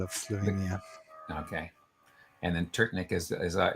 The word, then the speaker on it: Trtnik: Ljubljana Trtnik.